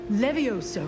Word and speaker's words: Levioso: Levioso.